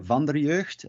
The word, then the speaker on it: Vanderjeugd: want to go there it is uh van der jerst uh it means of the youth uh you can just